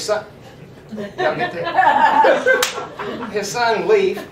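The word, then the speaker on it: Leif: His son y'all get his son Leaf pronounced leaf changed his name changed his name from the red to Eric's son for credit purposes.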